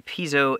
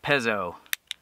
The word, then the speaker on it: piezo: Here's the stove itself, and here's a piezo igniter. Or is it pezzo? I'm not sure, actually. I've heard it pronounced both ways.